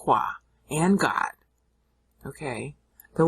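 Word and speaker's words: Yahweh: it's the sacred tetral griton people think it's Jehovah that's a bunch of baloney the actual spelling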